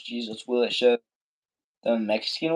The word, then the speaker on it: Jesus: Jesus. You do want to stress on the first syllable. On the syllable.